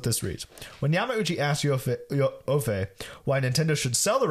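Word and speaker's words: Joffé: It's Joffe with an accent on the end.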